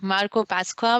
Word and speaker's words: Marco Pasqua: a very special guest marco pasqua with me is that how i pronounce your name that is how you pronounce it congratulations you got it right the first time awesome awesome so yeah